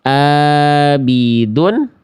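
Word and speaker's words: عابدون: Jangan sampai kita baca seperti ini. Abidun. Abidun. Di sini huruf ain ya, bukan a. Abidun harusnya abidun.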